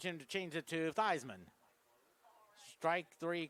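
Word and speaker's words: Theismann: But when he was at Notre Dame, his original pronunciation was Thesman. And the reason they changed his pronunciation to Thyman because their sports information director at Notre Dame told him made change it because he was in the running for the 1970 Heisman Trophy that won by Jim Plunkett of Stanford.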